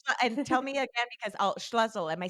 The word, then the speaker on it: Schlussel: And tell me again, because Schlussel, am I saying it right this Yes, time?